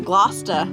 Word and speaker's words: Gloucester: She said not to pronounce the R and Glouester. It's like Glousta.